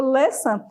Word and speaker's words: listen: O listen, ele tem a questão da letra T ser muda, você não pronuncia a letra T, tá bom?